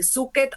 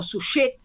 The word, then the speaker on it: Suchet: David Suchet o Suchet, según cómo lo queramos pronunciar.